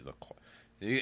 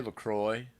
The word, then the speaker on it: LaCroix: It's definitely LaCroix. How do you say it? Do you say, I like to say LaCroix.